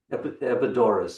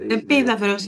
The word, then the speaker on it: Epidaurus: Epidaurus, I used to say. Επίδαυρος, yeah.